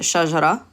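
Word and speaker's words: شجرة: So if it didn't have this tanween, we'd just pronounce it shajara.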